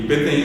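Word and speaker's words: peteĩ: Y PTI se escribe así como se escucha, solamente la i final es nasal, solamente hay una nasalidad. No hayó, no hay otros acentos. Es p e t e i nasal ti y silla es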